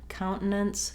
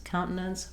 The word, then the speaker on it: countenance: So complicated word, countenance, countenance, or countenance. A lot of different ways and variants that you can use that are going to be correct. But probably this was requested and asked about because it's similar to words like maintenance, countenance, where we use those unreleased T's and syllabic N's.